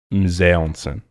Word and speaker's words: mise en scène: in school that I learned about film was mise en scène.